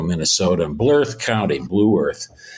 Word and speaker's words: Blue Earth: The small town he grew up in Nebraska and Mankato, Minnesota, and Blue Earth County, Blue Earth, as we pronounce it. I think it's more like one syllable for Minnesotans.